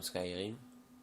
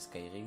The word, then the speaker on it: Skyrim: Skyrim, enfin je sais pas trop, c'est Skyrim, il me semble que ça se prononce.